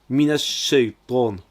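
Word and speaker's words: من الشيطان: Minash shaytan, minash shay. On a mina avec le a qui entre dans le son qui vient après. C'est un shin, un sh accentué. C'est une double consonne, donc c'est une shadda. Alors on insiste dessus. On prononce alors minash shaytan.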